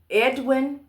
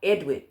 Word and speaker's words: Edwid: Edwin EDW, oh, you know what? I said that wrong. Edwid. And I may still be saying it wrong.